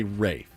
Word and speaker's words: Ralph: name is spelled Ralph my name is spelled Ralph but I want you to call me wraith the L is silent wraith and the a is long it's you can't just